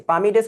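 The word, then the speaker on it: palm: অর্থ এখানে কি বুঝিয়েছে পামিডেস অর্থ কি পাম মানে তো জান পাম মানে হচ্ছে হাতের তালু বোঝায় এটা কিন্তু পালম না অনেকে পালম উচ্চারণ করে বাট এটা কিন্তু পাম লং ডেস না ডেস অফ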